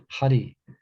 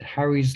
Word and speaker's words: Hari: So, but it was, there's an English name, Harry, isn't it? Harry. Harry. But it happens to be the same syllables as Hare Krishna.